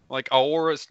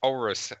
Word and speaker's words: Aorus: I can't pronounce it. It's just like Aorus. No, it's Aorus.